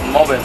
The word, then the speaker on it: Mov-e.r: Sí, de hecho, de ahí la pronunciación que decimos Mover, porque es movimiento electro rock.